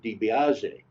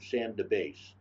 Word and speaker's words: DiBiase: name was Sam and I would pronounce it DiBiase but when I talked to people that said professor everyone called him Santa base he learned early on but the people here couldn't handle DiBiase debeso he's a prominent